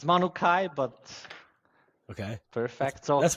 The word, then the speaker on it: Manukai: Did I pronounce it right? It's Manukai, but Okay, perfect.